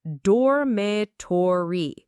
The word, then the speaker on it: dormitory: It's dormatory. The stress is on that third syllable.